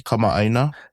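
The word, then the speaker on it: kamaʻāina: Kamina.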